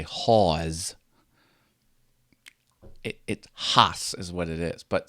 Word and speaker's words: Hasse: it all different ways the correct pronunciation is Hoss like you're laughing ha ha ha but then you put an s on the end Hoss some people say Hoss